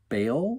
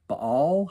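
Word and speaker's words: Baal: to get it you may or may not be familiar with ba or Bal however you want to pronounce b a a l the people of Israel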